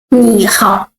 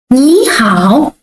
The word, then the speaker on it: 你好: 你好. You see? When two words all the third tone, we change the first word to the second tone, not 你好, but 你好, 我, 你好, okay? 你好 means hello.